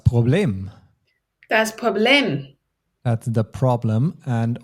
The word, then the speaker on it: Problem: That's the problem. And only the pronunciation is a bit different. Instead of problem, we say Problem. Our kind of focus is on the second syllable.